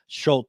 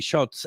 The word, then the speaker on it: Schutz: Schult uh, excuse me, Schultz.